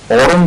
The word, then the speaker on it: aurum: औरम है एक, उसका तलफ़्फ़ुज़ है औरम, ये गोल्ड है और AURUM लिखा जाता है, और एक है आरम, मैं आरम कह रहा हूं इस वक्त, जो ARUM है, ये वो सोना नहीं है।